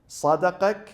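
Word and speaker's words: صَدَقَكَ: They are written in the same way, exactly the same way, but pronounced differently. Sadaqak and saddaqak.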